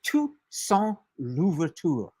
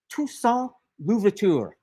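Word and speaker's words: Toussaint Louverture: His name is Ton Louvur. Tuson Luvur. and I'll spell it for you because he's another one of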